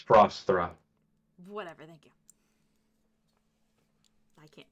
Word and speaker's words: Frosthra: Frostra. Wait. Frosthra. It's Frosthra. Whatever, thank you. I can't pronounce it properly, so thank you.